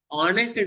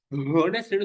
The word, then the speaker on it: honest: நீங்க ஹெச் சவுண்ட வந்து ப்ரொனவுன்ஸ் பண்ண கூடாது. அது HONEST இருந்ததுக்கு நீங்க சொல்லும் போது ஆனஸ்ட் தான் சொல்லணுமே தவிர ஹோனஸ்ட்னு சொல்லக்கூடாது. H silent.